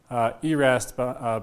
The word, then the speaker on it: yrast: And so you get down to this ERAST band down here, ERAST line, which is the minimum excitation energy for a given spin and parity. Spelled YRAST, pronounced ERAST because of Swedish origins, I'm led to believe.